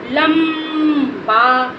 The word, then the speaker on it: लंबा: क्या पढ़ेंगे लबा देखो इसको आधा ना के रूप में नहीं बोलेंगे इसको आधा मा के रूप में बोलेंगे क्योंकि ये आखरी में